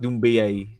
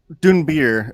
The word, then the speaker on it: Dunbier: Scott Dumbier. Oh, Scott Dunbier, I think is how you pronounce it. But I like saying Dumbier.